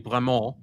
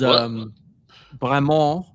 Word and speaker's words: Bremont: We said properly Bremont. Is Bremont.